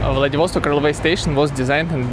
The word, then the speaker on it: Vladivostok: every day the devos talk take a lot of really different ships oh interesting fact in russia we say vladivostok but in english we pronounce vladivostok vladivostok railway station was designed